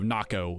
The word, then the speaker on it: Nako: So it's N-A-K-O, Naco is how I pronounce it. And then everyone else pronounced it Nako because, you know, like a Mako shark, but you know, it is what it is.